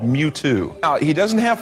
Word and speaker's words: Mewtwo: I love how he totally knows the pronunciation of the name too. It's Mewtwo. It's Mewtwo.